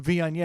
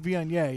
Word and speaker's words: Viognier: I was like, their Wagner is fantastic, knowing damn well it's the Viognier. Oh, you were messing around. Yeah. I know damn well it's the Viognier.